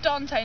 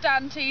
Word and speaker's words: Dante: his name is pronounced Dante not don t Dante already bailed a variation I believe it's